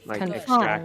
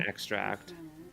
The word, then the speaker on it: extract: Sorry, English is what follows a consistent rule like the the verb has the second syllable accented and the noun has the first syllable accented. Yeah, confine extract and extract like envelope and envelopes.